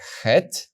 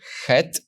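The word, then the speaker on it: ח: know that it's the letter hey the soft ha and if you don't see the Gap you know it's the letter head slightly harder ha now we go forward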